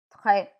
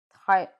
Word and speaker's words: très: The grave accent grave is sounded as A in let or get. A, A. Très, très. Very.